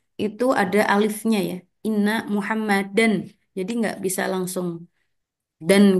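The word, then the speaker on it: مُحَمَّدًا: ketika dia faah tanwin penulisannya ya Tapi bacanya Ya tetap muhammadan alifnya enggak dibaca ya y Inna muhammadan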